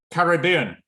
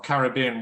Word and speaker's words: Caribbean: Caribbean. How many syllables? 4. 4. Say it to yourself. Caribbean. Where is the main stress? Caribbean. Caribbean. B. It's on the 3rd syllable, right?